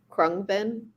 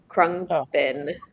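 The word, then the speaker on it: Khruangbin: her name is laura lee and she's from krung bin and if you don't know that band they're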